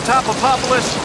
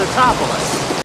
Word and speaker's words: Tatopoulos: Nico Topopoulos. Dr. Nico Topopoulos. How did Mrs. Tadopoulos handle that? Research team member Dr. Nick Papadopoulos. It's Totopoulos. Nick is actually named after Patrick Totopoulos, special effects supervisor and the man responsible for Godzilla's design.